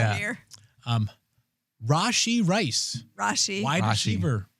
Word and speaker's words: Rashee: No, Rashee.